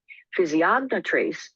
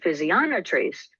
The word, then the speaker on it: physiognotrace: You'll hear me in this presentation use both pronunciation, physiognotrace, the English version of the word, and physionotrace, the French version of the word, interchangeably.